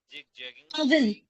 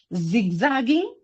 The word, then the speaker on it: zigzagging: Not jig jagging. Okay. Don't say j when you're jealous. When you're juxtaposing, when you're jubilant, when you're what else? J. You're confusing J pronunciation with Z pronunciation. Okay. Z. Just um Z. Wait a second. Z. Okay. Put your tongue near your teeth. Okay. Your your tongue should touch your teeth. Pin Z. Okay. Zigzagging. Zigzagging.